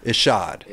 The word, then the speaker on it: Ishod: that's right is yeah so people say e shot it's ish it's just odd Ishod people say I shot